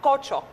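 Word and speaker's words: Küçük: فانا بقى عرفت، اولا الاسم تركي معناه جونيور او حاجه مش مهم، الصغير الصغير، وهو اصلا اسم تركي بينطق كوتشوك صح؟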